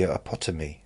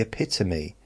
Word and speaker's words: epitome: Is that like the the height, the autonomy, the epotomy? Oh, epito. It isn't epitom. Is it ep the epotomy? Ep the epitome. I was just pronouncing it wrong.